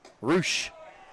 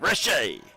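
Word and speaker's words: Reshay: Rush. How'd you pronounce it? Rush. R That's not right. Rushay.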